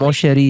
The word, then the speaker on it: mon chéri: You have to have like a lot of like phlegm in the back of your throat.